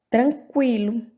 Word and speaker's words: tranquilo: Tranquilo, pronunciamos o U.